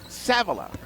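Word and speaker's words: Savilla: back in sa a v l a she pronounces it savila now I got to look something up when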